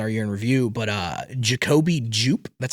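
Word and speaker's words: Jacobi Jupe: And um I'll again talk about this in our year review, but uh Jacobe Jup, that's how you pronounce the name.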